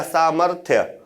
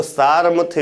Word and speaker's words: सामर्थ्य: सामर, फिर था और या सामर्थ्य। अगर आप यहां पे लगा दोगे तो सारमथ्य हो जाएगा। माँ के पहले रा का उच्चारण होगा ना, तो ये गलत लिखा होगा, इसीलिए इसका उच्चारण सही क्या होगा, ऐसे।